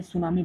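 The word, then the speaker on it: tsunami: T silent रहता है, क्योंकि अभी हमने देखा ना जापान को, जापान में सुनामी बहुत आते रहते हैं,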